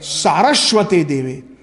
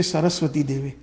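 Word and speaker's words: Sarasvate Deve: Vedanta Swaminiti Namine Namaste Saraswate Deve. Actually, some of us, we mispronounce. We say Saraswati Devi. It is not Saraswati, it is Saraswati Devi. It is Sanskrit, it is grammar, where the son of Vasudeva is known as Vasudev.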